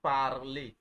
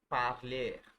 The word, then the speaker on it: parler: French is a language that loves the pronunciation of R. The pronunciation of R. Yeah, like the word. Look at this. Don't panic. Like the word parler. Can you see parler? So they love pronouncing their R. So parler, parler.